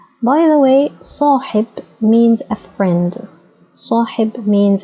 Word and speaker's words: صاحب: Ha, as you can see, has kasra below, so it would be pronounced as He. Okay, so we have Sa, Hi, B. صاحب صاحب صاحب صاحب. Okay, صاحب, and it's a noun, so we add no vowels to the last letter.